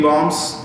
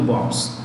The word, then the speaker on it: bomb: bombs first time three bombs may thirteenth two bombs when you pronounce the word bomb the last b b-o-m-b the last b is silent how do you